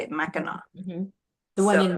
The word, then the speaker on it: Mackinac: I believe that's how you say it, Mackinac.